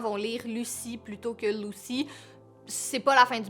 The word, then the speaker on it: Lucy: Prochain prénom pour une petite fille, c'est Lucy, donc L-U-C-Y prononcé à l'anglaise.